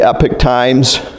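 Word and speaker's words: Epoch Times: little bit updated sometimes I I watch The Epic Times how do you say it oh yeah good you pronounced it right okay and like I like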